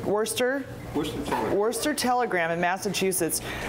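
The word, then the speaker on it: Worcester: at the how do you say it Worchester Worster Worster Worster Worster Telegram in Massachusetts Joe told Tom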